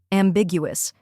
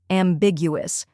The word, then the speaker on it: ambiguous: am in I am next is Big pronounced with a hard G like in big then comes U which